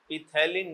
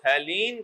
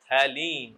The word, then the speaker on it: phthalein: कौन कौन सा कॉम्प्लेक्स इथलीन नहीं होता बेटा ऑर्थो क्रिसोल थैलीन कॉम्प्लेक्स सोन पी साइलेंट है थैलीन ऑर्थो क्रिसोल थैलीन कॉम्प्लेक्सोन